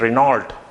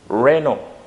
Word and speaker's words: Renault: are saying this term, you used to say it Renault, but that is again incorrect pronunciation for that one. This is the pronunciation of that. Renault. It has 2 syllables. Renault. Renault. It's not Renault. So this is the correct pronunciation. Renault. Renault, and no, the sound of T is not there.